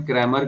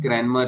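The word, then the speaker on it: Cranmer: थोड़ा यहां पर इन्होने क्रेमर कर द है क्रमर नहीं है कनमर है सी आर ए एन एमई आर तो ये आई है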